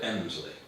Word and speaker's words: Helmsley: The same happens in Helmsley, the locals call it Emsley. And the old, I think in the Domesday Book, Helmsley is given as Elmslac, E-L-M-S-L-A-C.